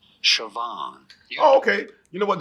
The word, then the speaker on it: Siobhan: How do you go about pronouncing it? Siobhan.